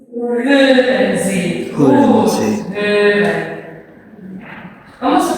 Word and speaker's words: hören: Sí, cuidado no pronunciar una U. Porque si pronuncian una U, ¿qué sucede?